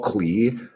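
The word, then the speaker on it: Klee: And like the Paul Cle um or Paul Clay, however you pronounce his name. I think it I think it's pronounced clay, but I always see it as clay.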